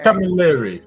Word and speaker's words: Camilleri: How do I pronounce it? Camilleri. I was close.